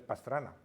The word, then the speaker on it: Pastrana: la alquería de bastr ya sabéis la B los árabes no tienen la p pero pronuncian pastrana pues es pastrana y albalate almacis y